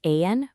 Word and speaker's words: Aayan: and pronounced Ayan, which is a firm completely dedicated to bridging evidence, systems, and impact.